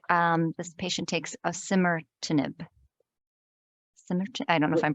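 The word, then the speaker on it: osimertinib: if you take um this patient takes a simmer to nib I don't know if I'm pronouncing that right listen yeah try that again oh simmer to nib o-s-i-m-e-r yes got it got it yes and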